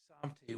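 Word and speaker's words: שַׂמְתִּי: In contrast to samti, where the stress is on the first syllable.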